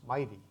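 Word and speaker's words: MITEI: for the acronym so the Mi Tei we pronounce Mighty it's it's a great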